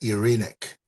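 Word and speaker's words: Εἰρήνη: Irene uh the proper Greek pronunciation is irreic but this been translated to English now so say Irene or Irene right but yeah whatever um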